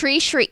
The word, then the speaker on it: Sri: Sri Ravi Shankar? Yep, Sri right? Ravi Shankar. Sri. So Yeah. it rhymes with tree.